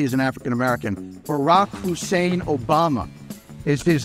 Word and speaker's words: Obama: Barack Hussein Obama is his name. His middle name is the last name of Iraq's former tyrant. His last name rhymes with Osama.